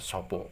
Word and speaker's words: sapa: Ya, jadi makanya untuk ini sapa ini nanti membacanya sopo.